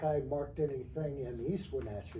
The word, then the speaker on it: Wenatchee: And good old Wenatchee. Or some people, from other places, they say Wenatchee, and they cannot pronounce it gets such a hatchet job.